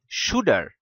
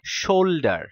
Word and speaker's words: shoulder: পরে যখন আমি ওকে বললাম SHOULD শুল্ড না শুড, তারপর ও আমাকে বলে তাহলে SHOULDER হওয়া উচিত শুডার। আমি ওকে বললাম না, শোল্ডার।